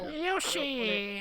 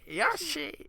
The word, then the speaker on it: Yoshi: so you could have had my money no Yosi how do they say his name Yoshi Yosi Yosi Yoshi yeah there it is that's I I was